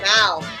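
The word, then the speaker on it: mèo: Mao. What? Mao.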